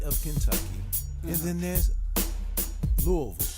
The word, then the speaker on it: Louisville: Just so you know, there's the state of Kentucky, and then there's Louisville. Okay, you gotta say it right too. It's Louisville.